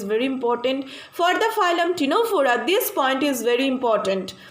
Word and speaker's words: Ctenophora: Now we are proceeding to the next phylum, that is the phylum Ctenophora. Here also C is silent.